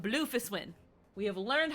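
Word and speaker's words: Bloefhiswyn: e is silent and then fists the h is silent and then win so bluefish win um and then um merlib merlib so the w is silent merlib bluefish win we have learned how to say her name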